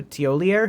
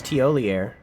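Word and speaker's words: Thiollier: Oh, that's Teolier. Uh, we'll read all that in a second. Or tier, I think it is. I don't think the R is pronounced. I think it's Tier. Okay.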